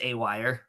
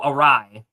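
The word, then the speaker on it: awry: side right it's pronounced a wire yes that's how it's pronounced it's pronounced a wire oh arai that's how it's pronounced a wire is a completely different word it's pronounced arai that's how it's pronounced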